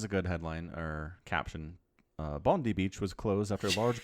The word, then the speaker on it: Bondi: Bondi Beach was closed after large crowds flouted social distancing advice.